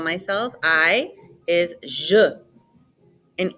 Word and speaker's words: je: call myself i is je and e in french is like somebody is punching you in the stomach uh so it's je repete and your name